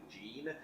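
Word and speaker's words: Jeane: Also, for reference, I think I was mispronouncing it the entire time and saying John. It's actually Gene.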